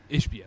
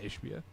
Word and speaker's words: Ishbia: Like, think about in when did Matt Ishbia, the Suns owner, I can't pronounce his name. Matt Ishbia? Ishbia, sorry.